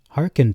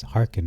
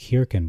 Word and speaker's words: hearkened: yet he has not hearkened to me? And I've been pronouncing that word wrong up to this video, so it's hearkened, not hearkened. It looks like hearkened, but it's the E is silent.